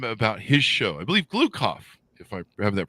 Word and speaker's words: Gloukhov: I believe Gloukhov, if I have that pronounced correctly, don't I, Michael?